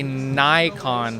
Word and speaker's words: Nikon: did Nikon come from from what I understand Nikon is the way you pronounce it everywhere in the world except North America which we say Nikon for for some reason I think it's a state it's a United States thing that's their accent and uh in Canada